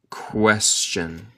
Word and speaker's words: question: She found this a very difficult question. Nota mi pronunciación. El T suena como CH aquí.